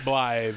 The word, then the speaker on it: Blythe: Turns out he's got a new lady friend named Blythe, I think is how it's pronounced. Blythe, yep. Blythe, there we go.